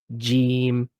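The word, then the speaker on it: جيم: saying jim. Jim. So it's not jim necessarily. It's the e is a little bit longer, right?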